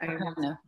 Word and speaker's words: Arkadina: Arkadina.